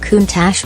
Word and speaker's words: Countach: You flasher Countach, pronounced Countach by the importer, and everybody gets the message.